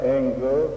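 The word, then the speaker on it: ऐं: मैंने बोला है एंग क्रींग श्रींग, आप ऐसा बोल सकते हैं एम क्रीं श्रीं, वो गलत है। म की ध्वनि नहीं होगी, ग की ध्वनि होगी।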